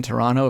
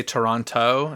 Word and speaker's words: Toronto: My friend in Toronto was very mad that they pronounced the second T in Toronto if they're supposed to be from there. But why did they say Toronto and they should have said Toronto?